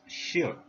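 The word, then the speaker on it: 士: The pronunciation is shi in Mandarin.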